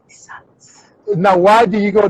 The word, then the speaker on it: Isat: So in Holland, they pronounce my name as Isatu.